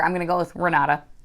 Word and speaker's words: Renata: Portuguese, at least, is Renata. So that's what I call her. At any rate, our main character, I'm going to go with Renata, because in Spanish, it would be an R sound.